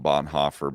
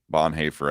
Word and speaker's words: Bonhoeffer: yeah bob hafer um i usually call him bonhoeffer but bon hayfer i think is the more probably correct uh pronunciation he was um he